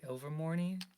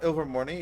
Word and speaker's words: Ilvermorny: parents went to uh how do you say over morning mom is that it uh she she says this is it's uh ilvermorny yeah uh yeah they